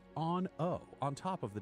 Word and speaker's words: Aun'O: When you speak to the Ethereal, please use the honorific Aun'O, A U N {apostrophe} O, but pronounced Aun'O on top of the name Artemis.